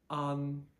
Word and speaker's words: an: with no speed limits so the on at the end of that is exactly the way that we pronounce a an an think of Ahn in English an on okay and